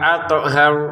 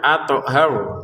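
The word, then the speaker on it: أطهر: Lakum wa athar. Nah, thnya jangan lupa dipantulkan. Athar gitu ya. Athar. Kemudian jangan dibaca panjang athar karena memang tidak ada alif di sini ya.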